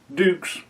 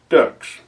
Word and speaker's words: Dux: She tells me it's spelled D-U-X, but it's pronounced Dukes, not Ducks.